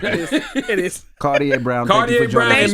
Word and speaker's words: Kardea: I said it right? Kardea. Like the glasses.